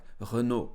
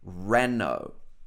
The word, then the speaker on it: Renault: So I know the French pronunciation will be something like Renault, Renault. But in English, Renault, Renault.